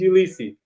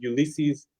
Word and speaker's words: Ulysse: port-au-prince my teacher said my name said ulisi and so every sin in my brain in my brain name is pronounced ulysses so it's an american that was